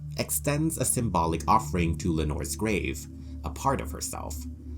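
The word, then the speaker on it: Lenore: The name Lenor, which rhymes with Nevermore, comes from the famous Poem, The Raven.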